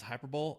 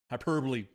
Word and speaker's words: hyperbole: high and uncompromising uh wait it's not pronounced hyperb hyperb just saying yeah hyperbole um we are made